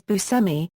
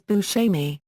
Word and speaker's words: Buscemi: Image: he pronounces his name as bʉʻsɛmi, but the Italian pronunciation is boo-SHEM-ee. He once said about the pronunciation of his name, "I had to go to Sicily to find out I pronounce my name wrong."